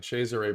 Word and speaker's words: Cesare: I think it was Cesare Borgia was the one he thought was Cesare, not Cesare. Pronounced in Italian, Cesare Borgia.